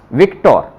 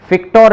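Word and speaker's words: Viktor: यूज किया है, विक्टोर, विक्टोर, फिक्टोर नहीं बोलेंगे इसको, विक्टोर ही बोलेंगे, जो कि कम यूज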